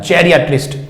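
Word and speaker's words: geriatrist: पड़ेगी गहरियां टेस्ट की वैसे इसका एक्चुअल उच्चारण होता है जिया एटलिस्ट ठीक है तो जरिया ट्रस्ट जो है ओल्ड इस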